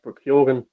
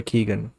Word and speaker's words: Keoghan: It's Kyogan actually. I think a lot of people are pronouncing it wrong. Maybe Oh, okay. I'm Irish. I think it's I've Kyogan. heard people say just Barry Keegan, Have but Americans been